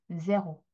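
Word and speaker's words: zéro: 자,에 발음 때문에 이렇게 읽는 거예요. 제호.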